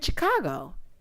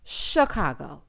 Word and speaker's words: Chicago: that way she said I'm saying Chicago he said it's Chicago Chicago she said I thought I was saying it like the Mobsters he said you're not